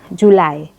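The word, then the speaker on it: July: sudah hafal ya cuman biasanya yang sering salah itu di Juli bulan Juli bacanya julai Jun Bacanya adalah Jun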